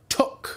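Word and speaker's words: tök: learn some Hungarian here squash in Hungarian is took pronounced like took took can also be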